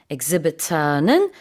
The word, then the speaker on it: exhibitor: exhibition은 전시, exhibitor는 전시회를 여는 주최자, 사람이나 회사나 이런 것들 다 exhibitor. 미국식 발음으로는 exhibitor.